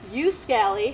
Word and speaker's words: Uskali: In Finland, they pronounce it Uskali, but I pronounce it Uskali.